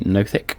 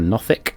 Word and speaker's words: nothic: themselves quickly identified as a nothick or nothing depending on where you're from and how you pronounce that um which is a